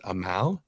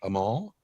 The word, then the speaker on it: Amal: It is Amal, not Amal.